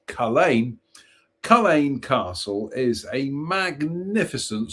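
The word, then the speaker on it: Culzean: So, Kine Castle, one of the foremost attractions in Scotland and pronounced Khalain. Let's try it again. Khalain Castle, one of the foremost attractions in Scotland and pronounced Khalain.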